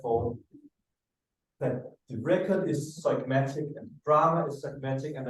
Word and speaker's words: zeugmatic: Yeah, perhaps I don't know how to pronounce it. Z-E-U-G-M-A-T. Zeugmatic, right?